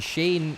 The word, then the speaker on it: Shane: And Shane, not Sean.